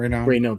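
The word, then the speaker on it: Raynaud: I can't pronounce his last name. Rayno.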